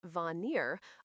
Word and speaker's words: Vanir: The Vanir, pronounced Vanir, are a secondary group of gods closely tied to nature's fertility, prosperity, and magic.